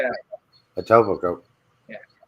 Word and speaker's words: Etobicoke: That's how you Etobicoke, pronounce yeah. it. Etobicoke.